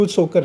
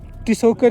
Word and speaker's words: Tsokar: T is silent always. So Tsokar is not the one, it's Tsokar Lake.